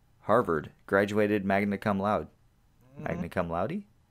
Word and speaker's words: magna cum laude: Magna cum laude?